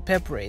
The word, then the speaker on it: peppery: The correct word is a peppery. That's spelled P-E-P-P-E-R-Y, peppery.